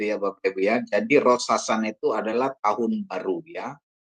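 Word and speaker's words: ראש השנה: Jadi bacanya hasana. Jadi artinya jadi baca seluruhnya adalah Ros Hasana ya, tahun baru ya.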